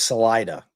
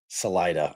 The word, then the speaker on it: Salida: Yeah, I mean, I'm like a phonetic guy, so I always pronounce things salida. Yeah, because I mean, if I was speaking in Spanish, it would be salida. But I'll go with how you guys pronounce it.